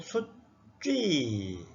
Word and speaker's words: 숫쥐: 숫쥐도 수쥐 읽지 말고 숫쥐 이렇게 된소리로 읽으라는 겁니다.